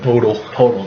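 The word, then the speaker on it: Poeltl: Jacob Podol. That's how you pronounce it.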